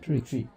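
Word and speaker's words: Bosomtwe: Like, it's not Tui. It's even me attempting to say it properly, I can't make the sound, right? Like tree. It's tree. No, trust That's me.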